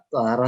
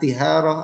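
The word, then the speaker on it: طهارة: Toharoh ini timbangannya bagaimana? Apakah tiharoh atau toharoh? Maka kita menimbangnya dengan ilmu soroh. Timbangannya bagaimana? Tohuro yathuru toharoh. Jadi toharoh juga isim masdar.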